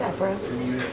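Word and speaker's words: Évora: So apparently we've been saying Evora wrong this entire time. Evora. It's Evora.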